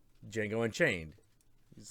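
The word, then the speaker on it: Django: ] like Jamie Fox Jango met uh the original Dude the de is silent you know oh man that was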